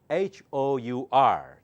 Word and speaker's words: hour: our the last one h o Ur the last one h o Ur how do you say that it's always hour hour 2 hours 3 hours okay so do not